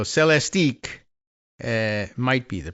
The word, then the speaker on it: Celestiq: And so Celestiqs might be the pronunciation here, C-E-L-E-S-T-I-Q.